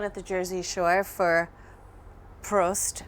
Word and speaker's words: Prost: the Jersey Shore for Prost. I always say it wrong. What's the correct way to say it? You said it right.